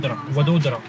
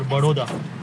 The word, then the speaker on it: Vadodara: Vadodara. Vadodara? Vadodara. Vadodara. Or Baroda.